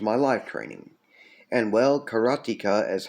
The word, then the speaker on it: karateka: And well, karateka is how you pronounce it when you're referring to a student of karate.